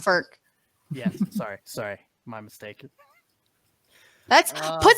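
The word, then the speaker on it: Frk: Well, frick. No, not Martin Frick. Yeah, it's pronounced Ferk.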